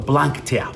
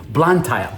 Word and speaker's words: Blantyre: Literally, it would take me about 2 days to what do you call Blantyre? Blantyre? I think that's how you say it. Blantyre.